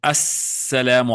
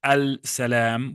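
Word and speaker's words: السلام: For example, in assalamu alaikum, you see the word actually here is al-salam. But the lam is silent. The lam is silent, so we don't say al-salam, we say as-salam.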